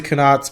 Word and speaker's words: Khanates: And I'm going to pronounce the Khanates because both the custom campaign and this campaign has called the Khanates, so I am going to just assume that that's the right pronunciation.